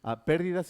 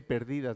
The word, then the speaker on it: pérdidas: Pérdidas y ganancias. Next one. Pérdidas y ganancias. Okay, very good. Can you spell it, please? We don't say perdidas, no. Not perdidas, but pérdidas. Son unas perdidas.